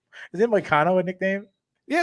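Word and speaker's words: Hanatani Moano: been there that long moo rhymes with volcano is not his nickname it's moano oh but you know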